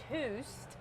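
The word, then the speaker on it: Töst: gonna have is called toast okay now um you pronounce it toust like as if you're scandinavia and that's what i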